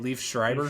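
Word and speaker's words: Liev Schreiber: Leave Shriber.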